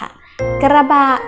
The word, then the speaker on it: กระบะ: ค่ะ ซื้อ เนื้อ เหลือง อ่าน ว่า กระบะ มี คำ ว่า กระบะ กอ ไก่ และ รอ เรือ เป็น พยัญชนะ ต้น คู่ กัน นะ คะ เป็น พยัญชนะ ต้น แบบ ควบ กล้ำ นะ คะ เป็น คำ